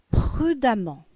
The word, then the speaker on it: prudemment: Exemple, prudent, prudemment. Prudent, prudemment. Donc ici, le E se prononce A. Et on double la lettre M.